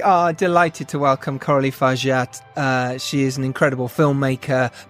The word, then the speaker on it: Fargeat: how to pronounce it. Hang on. Gilles Aldesson. Coralie Fargeat. I was right. It's Fargeat. Coralie Fargeat.